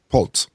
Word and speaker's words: poults: if we feed turkey poults is that how you say it poults or pulse pulse that's a young turkey as in poultry young i think it's